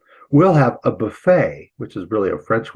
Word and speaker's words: buffet: We'll have a buffet, which is really a French word that we got. In Britain, it's a buffet. What's going on here? They move the accent forward in the word.